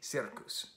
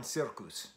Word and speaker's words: Cirkus: And then I get to this one, Odlazi Cirkus.